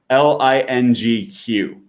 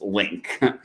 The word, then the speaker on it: LingQ: if you already use link by the way i always have to say this link is spelt l-i-n-g-q it's not lingq it's just pronounced link okay that's just a